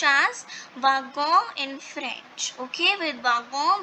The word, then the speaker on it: wagon: So a wagon, that means a carriage. Okay, so wagon, in wagon, the here this letter is not pronounced as W. It is pronounced as v.